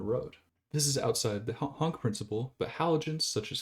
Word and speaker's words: HONC: organic chemistry that being the honk principle which is spelled h o n c and in this case